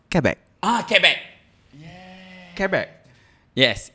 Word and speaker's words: Quebec: It's pronounced Quebec.